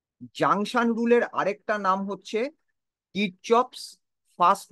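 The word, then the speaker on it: Kirchhoff: নাম ছিল গুস্তাফ রবার্ট কিরচফ অনেক সময় দেখবে এটাকে অনেকে কিরশবক বলেন অনেকে কারশ বলেন যেভাবে প্রথমে প্রোনাউন্স করেন কিন্তু একচুয়াল নেম হচ্ছে গুস্তাফ রবার্ট কিরচ তিনি দুটো রুল দিয়েছিলেন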